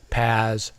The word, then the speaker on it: PaaS: The first three are pronounced IaaS, PaaS, and SaaS.